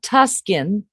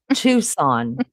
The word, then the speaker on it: Tucson: Lenny, please tell Maggie how to pronounce not Tuskin. Tucson.